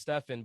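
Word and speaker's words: Steffon: mother chose my spelling so it's pronounced stefan but it's spelled like stefan s-t-e-f-f-o-n which trips up a lot of people yeah it trips up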